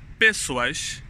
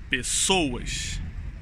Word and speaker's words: pessoas: is pessoas as pessoas sou de estresse in this world is in the second sílaba pessoas pessoais ó pessoais the correct way is pessoas ok faz example hoje